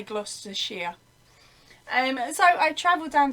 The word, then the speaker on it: Gloucestershire: of the country and it's spelt gloucestershire but we say gloucestershire and so i traveled